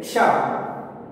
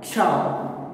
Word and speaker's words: क्ष: Now, first we will take Ksha. Once pronounce the sounding Ksha. Ka, Sha, Ksha. Okay. Ka plus Sha is equals to Ksha.